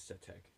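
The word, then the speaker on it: Sutekh: His real name is Setek. That's how you say it.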